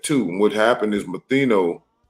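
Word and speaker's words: Manetho: And what happened is Matheno, that's how you say it, Matheno, or how you say it again? It's Manito.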